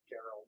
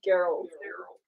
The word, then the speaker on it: Gerald: It's pronounced with a hard G. Gerald. Gerald.